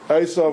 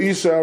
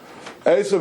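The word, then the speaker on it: Esav: Okay, for those of you who don't remember the whole narrative, these two fellows, Asov, let's you're pronouncing it Isa. That's that's a good English translation. Let's use the Hebrew words. Asov and Yakov were twin brothers.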